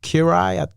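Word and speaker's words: Király: was like you know it's actually pronounced like kirai kirai in Hungarian and I'm like the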